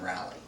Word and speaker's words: Raleigh: the recent one we went to, Animazement in Raleigh. Raleigh, yeah, that's what I said. Yeah, Raleigh. So, it's pronounced Raleigh.